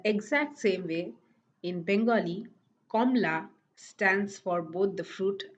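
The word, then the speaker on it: কমলা: In the exact same way, in Bengali, Komla stands for both the fruit and the color. There is an alternative pronunciation, Komola, but both Komla and Komola are acceptable pronunciation for the word orange.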